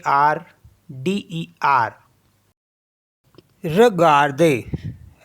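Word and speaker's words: regarder: है आर ई जी ए आर डीई आर र गर्दे र गर्दे होता है टू वच ये एक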